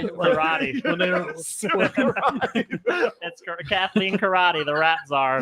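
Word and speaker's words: Corradi: it's but spell it's spelled c o r r a d i karate that's Cathleen karate the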